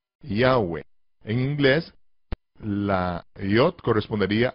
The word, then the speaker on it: Yahweh: Se pronuncia Yahweh, Yahweh, Yahweh.